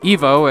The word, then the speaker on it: E.V.O.: EVO, as I'm going to insist on calling it, even though it's spelled as an acronym in the game, is similar to the